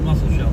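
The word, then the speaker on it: Musselshell: It's like mushelle or something or mushelle something like that. I am not very good with pronouncing things. It is called the muscle shell river. That's what it is. Muscle shell. It's the river we're riding along right now.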